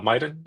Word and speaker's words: Miden: So you said uh Miden. Is that how I pronounce it right?